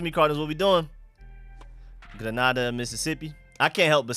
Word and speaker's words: Grenada: Forbes is from, how do you pronounce that? Grenada, Mississippi? Oh, Grenada.